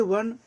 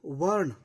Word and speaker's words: वर्ण: क्या ये वर्ण, जिसे इंग्लिश में वर्णा ऐसे लोग पढ़ते हैं लेकिन वो ए साइलेंट होता है, तो क्या ये वर्ण जाति के आधार पर है?